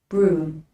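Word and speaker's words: brougham: pronounced broom broom yeah the G in h is silent broom what is a broom a horse down Carriage with a roof it's a carriage run by horses that's what is a broom it's actually pronounced the same way as a broom which will Sweep with sweep a broom stood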